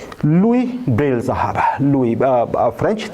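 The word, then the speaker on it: Louis: पहले समझ गए हो लुई ब्रेल साहब लई फ्रेंच थे तो इनके स्पेलिंग प अगर आप जाएंगे तो एस भी आती है स्पेलिंग में साइलेंट होता है फ्रेंच प्रशन में इसमें लुई ब्रेल आज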